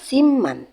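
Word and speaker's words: 십만: 10 10 yaitu sip maka 100.000 adalah Siman tulisannya sipman cara membacanya Siman kalau 1 juta setelah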